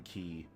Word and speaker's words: quay: one level in Creme Key where you have to jump over the zingers at the left. I only recently learned that it's supposed to be pronounced key and not qu. I've said quay my entire life.